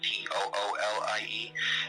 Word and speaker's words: Thule: It's the Vril power was abandoned technology left behind by the Atlantean civilization, and the Atlanteans used to call themselves the Thule, like Thule, but pronounced Toolie.